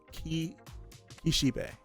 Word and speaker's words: Kishibe: was first introduced to Ximena how do I pronounce that kisibe Kishi kishibe kishibe that's how I say it kishibe he